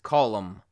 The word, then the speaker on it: column: pronounce the M now the letter n in some M n combinations will be silent for instance column autumn or him but